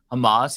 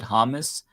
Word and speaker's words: Hamas: he didn't even know how to pronounce Hamas he said hamus and when I said